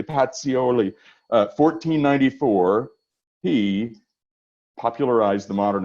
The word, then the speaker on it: Pacioli: Luca Pacioli I had had an Italian person say I have to pronounce it correctly Patsy Olli 1494 he popularized the